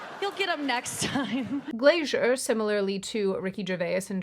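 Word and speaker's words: Glaser: At the 2025 Golden Globes, comedian Nikki Glazier, I've been told this is Glazier, but I want to say Glasser because that that is how it's spelled, but whatever. Anyway, she briefly pointed out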